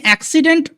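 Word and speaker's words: accident: তোমাদের একটু স্পেলিং এ প্রবলেম হয় এই যে এক্সিডেন্ট এটা যদি স্পেল করতে তোমাদের অসুবিধা হয় এটাকে তুমি প্রথমে আগে সি লেভেলে ভাগ করো।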